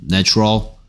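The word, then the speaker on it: natural: 네이처에 대해서 무슨 얘기했다 a의 발음이 명사일 때하고 형용사일 때하고 달라진다 얘는 a 내 이름을 불러주고요 얘는에 발음이고요 그 다음에 얘도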